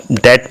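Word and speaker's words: debt: यहाँ डेट में B silent है, इसको हम डेट का डेट पढ़ेंगे।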